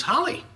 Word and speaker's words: Holly: And I see that your name is Holly. Indeed. Just like the name of this town. So I've heard. You're going to love it here. Rhymes with jolly and golly.